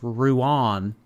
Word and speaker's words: Ruan: I'm Irish, pronounced Ruan. Oh, Ruan.